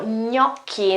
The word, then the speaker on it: gnocchi: And last recipe for today, gnocchi. Again, that's the GN sound, as in lasagna and bolognese. So gnocchi, they're those little notes, the potato notes, okay?